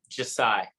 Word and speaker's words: Jasai: so just how you how do you say your your first name i'm hoping i got it right uh josiah uh okay i might have said it a little bit wrong but at least you said it right so how did you